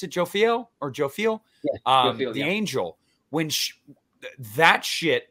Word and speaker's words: Jophiel: And even then, like, you still have the end where, God, I always pronounce, is it Jophiel or Jophiel? Yeah, Jophiel, the angel.